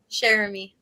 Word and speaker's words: Cheramy: How do I pronounce your last name so I say it right? Cheramy. Cheramy.